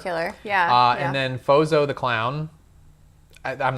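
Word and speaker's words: Frozo: And then Phozzo the clown, I'm not saying that right, breaks in and battles with Hercules. It's Frozzo, you're saying it right.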